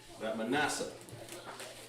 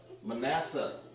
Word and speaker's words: Manasseh: Manasseh. Manasseh, made to forget. Made, you guys got to write fast, to forget. Okay? Made to forget. And that's pronounced ma, na, sha.